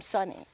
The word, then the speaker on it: Sonny: Well, yes, they always called him Sonny. Sonny? Hey, Sonny. It rhymes with honey, you know. Sonny and honey.